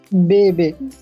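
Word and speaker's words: bébé: pronunciation changes to a if you put the sign above e then the pronunciation changes to a for example how do you pronounce it baby very good baby because the pronunciation is a baby clear but had this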